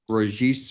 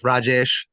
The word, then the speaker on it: Rajesh: heard the testimony of rajish sakar is that correct I pronounce that that's Rajesh yes sir rajes sakar my